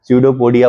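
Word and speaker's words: pseudopodia: लार में होता है बायोलॉजी में जो भी वर्ड मिलेगा अगर फर्स्ट लेटर पी है तो साइलेंट ही करके बोलना है जैसे pudopodia बोलते हैं तो पी से स्टार्ट होता है इस तरह का जो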